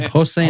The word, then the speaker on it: Hossein: But, uh Ensan uh is How do I pronounce his first name? Hossein.